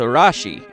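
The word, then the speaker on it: ラッシー: The other two sources of inspiration, the famous television dog Lassie, of course, which would be pronounced something akin to Rashi in Japan.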